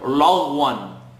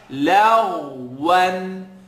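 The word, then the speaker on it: لغوا: A commonly mispronounced word, lagwan. Lag, la. Lagwan.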